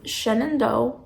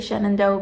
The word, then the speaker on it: Shenandoah: Me being from Pennsylvania, I say Shenandoah because that is the way I was, people around me pronounced it, but the way that other people who are outside of Pennsylvania pronounce it is Shenandoah.